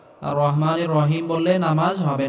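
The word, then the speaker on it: الرحمن الرحيم: রাহিম আর রহমানির রাহিম এখানে বড় হা এটি গলার মধ্যে হালকা চাপ দিয়ে উচ্চারণ করতে হবে আর রহ আর রহমানির রাহিম এখানেও বড় হা আর রহমানির রহিম বলা যাবে না আর রহমানির রহিম বললে নামাজ হবে না আর রহমানির রাহিম আর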